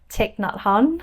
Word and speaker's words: Thich Nhat Hanh: Are you a fan of, I've really been getting into, I don't know how to pronounce his name, maybe you do, Thich Nhat Hanh?